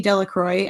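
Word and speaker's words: Delacroix: and they put in the villagers pronounce this name Delroy yeah yeah I was like I think was funny because I read Delroy C YX as Delroy and then it tells us to say it delro I was like wait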